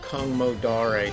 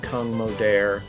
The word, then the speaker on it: Kung Modare: River crew River crude um so story about kungmodare Sven yeah so I noticed last week I was saying Kung modern you were saying Kang modare I went to